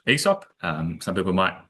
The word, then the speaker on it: Aesop: Um so I work for a company called ESOP. Um some people might pronounce it ASOP but I quickly got on to the correct pronunciation of ESOP.